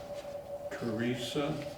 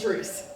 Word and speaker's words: Therese: say, we did our managers' reports, and I think Teresa, Therese, yeah. did I say it right? It's, Is no, at the end. that, It's just Therese.